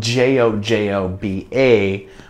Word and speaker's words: jojoba: It's spelled Jojoba, but it's jojoba oil.